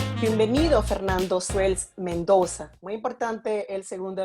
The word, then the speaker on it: Suels: parientes que llegaron a Venezuela, el nombre se pronunciaba diferente y seguramente lo españolizó y ahora es Suels. Suels.